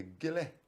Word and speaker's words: Gillie: So that was Gillie, and Miss Alice Anderson, she's the one saying made sure that people pronounced it properly. Gillie.